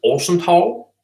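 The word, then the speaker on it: Øresundstog: Swedish. Or, yeah, Orezentag. And in Danish, it's Orsental, even though it's spelled identically, except the O has a line through it. Orsental.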